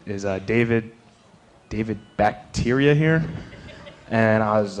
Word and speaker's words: Bakhtiari: Apparently, nobody knew how to pronounce Bakhtiari, and it sounded like bacteria.